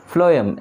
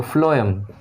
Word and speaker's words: phloem: The next is phloem. As the pronunciation is F, so it carries food, only food. So phloem, we'll write it carries food.